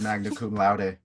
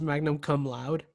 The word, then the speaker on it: magna cum laude: We're gonna look like we graduated magna cum laude. You know, I always pronounce it as magnum cum laude because I didn't know the right way to pronounce it.